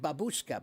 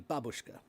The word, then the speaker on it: babushka: But uh but I I know that my Russian friends have all told me it's supposed to be babushka, right? Like the the accent's on the first, not on the second, right?